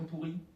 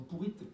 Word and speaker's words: pourrie: déglingots ça s'écrit maison pourrie tu devrais corriger ton titre on ne dit pas maison pourrite mais pourri maison pourri pas pourrite un peu d'orthographe s'il te